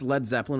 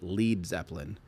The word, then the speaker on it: Led Zeppelin: Americans would pronounce it Lead Zeppelin if it was spelled L E A D. But they wanted it to be lead like a heavy impossibly heavy Zeppelin.